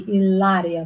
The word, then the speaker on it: Hilaria: use that word um if we want to talk Spanish it should be Hilaria without age is never pronounced so uh the great